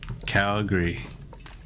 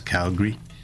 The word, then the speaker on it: Calgary: you refer to them as Calgary Calgary they don't pronounce the a I do Calgary yeah that would have